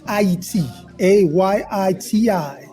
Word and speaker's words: Haiti: a Yi TI this is the correct way to say Haiti well we're getting education